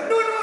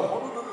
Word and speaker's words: হনুলুলু: নুনু নুনু সার্কাস। এই, ওটা হনুলুলু সার্কাস, ভুলভাল উচ্চারণ করবে না।